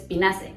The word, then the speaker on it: Pinaceae: También pasa con las plantas, por ejemplo, la familia Pinaceae se escribe Pinaceae, pero solo dices Pinaceae, como si no existiera la A.